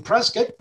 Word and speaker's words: Prescott: in prescott arizona and prescott is actually pronounced like c-i-t-t like a biscuit prescott arizona uh i learned that when i moved here back in 2006.